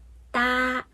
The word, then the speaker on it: 哒: 那我们看哒这个发音，哒一声，相应的是韩语里面的哒，发音很像，但是不一样啊。